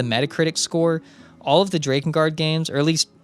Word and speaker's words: Drakengard: And also, I pronounce it Drakengard and not Drakengard.